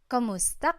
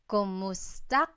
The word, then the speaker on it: kumusta: you in Tagalog, it's kamusta ka? Kumusta ka? So it's spelled K-U-M, kumusta ka. But sometimes you might hear some people say kamusta ka, like it's a K-A sound.